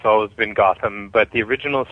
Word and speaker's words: Gotham: television a lot and nobody could ever pronounce my name and I've always pronounced it as Gotham and so um you